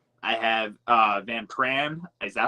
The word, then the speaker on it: Van Pran: I have Van Pran. Is that how I pronounce it? Yeah, Van Pran.